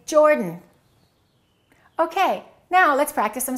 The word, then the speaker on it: Jordan: Don't say he is from Jordan. Reduce that a and say Jordan.